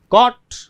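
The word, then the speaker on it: caught: अब इसमें जो जब भी ध्यान दीजिए AU आता है और उसके बाद में G आता है, तो उसमें सीधा कॉट, कॉट, यानी वो G है वो उसमें साइलेंट हो जाएगा।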